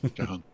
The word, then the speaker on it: Jahan: anglicized over the years, he keeps calling it John rather than Jahan. Jahan.